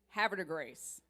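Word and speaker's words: Havre de Grace: Now, if you say that in the French, that should sound like a grass. If you say it in Maryland, it's have a grace. That's how you can tell if you're around here.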